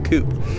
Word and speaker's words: coupe: 1959 DeSoto Fireflight Sportsman Coupe your Coupe because that's how the Americans say it for some reason massive massive car even